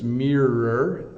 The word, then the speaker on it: mirror: people uh mirror uh it it is a bit of a challenge right it's mirror I think it's the double r in the middle that makes it a challenge but you can see